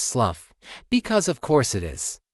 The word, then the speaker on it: Slough: And yes, his name is pronounced Slough because of course it is.